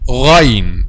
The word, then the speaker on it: Ghayn: the letter Ghayn, okay, from the beginning of the throat, which is nearest or closest to the mouth. And I will tell you a secret to be able to pronounce letter Ghayn. Letter Ghayn is like the sound of gargling, like the sound of gargling.